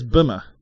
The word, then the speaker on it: Bimmer: It's Bimmer. Yeah, no. Why is it not Beamer? Do people spell it like that?